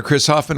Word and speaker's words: Chris Hoffman: The B is silent, so we call him Chris Hoffman.